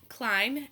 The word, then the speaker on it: climb: ending sound as climb once again we see that M be silent B climb ends in the sound mmm let's look at our